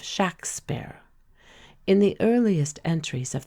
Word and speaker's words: Shakespeare: is good proof that the pronunciation of the first syllable was short and sharp and that the warwickshire patois gave it the sound of shaksper in the earliest entries